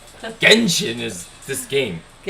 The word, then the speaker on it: Genshin: My sister said I should play Jensen Singh impact. Jensen Singh impact, right? That's how you say it, right? Genshin.